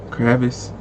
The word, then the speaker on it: Kravitz: she's so chill bro Zoe kravis that's how you say it I never knew how to say her last name but but replies to